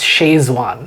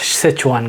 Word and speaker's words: Sichuan: We know like Sichuan is a spicy place because even in India we we pronounce it as shwan. Okay. Yeah. Yeah. Yeah. But now I know it's actually pronounced Sichuan guys in in the real sense.